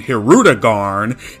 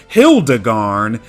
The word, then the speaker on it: Hirudegarn: The Funimation dub spoken pronunciation Hirudegarn is actually correct. The sub's translation Hildegarn is totally wrong, as that Ru is not meant to be an L.